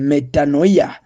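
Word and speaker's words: μετάνοια: neno hili linatokana na neno la kigiriki ambalo linatamkwa kwa kama eh metanoia linaloongoza kwenye badiliko la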